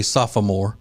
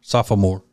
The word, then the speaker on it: sophomore: return a sophomore actually sophomore sophomore yeah there's an extra a syllable in there sophomore which a lot of people don't know yeah they know it